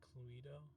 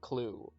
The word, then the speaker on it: Clue: Oh shit, are we playing Cluedo?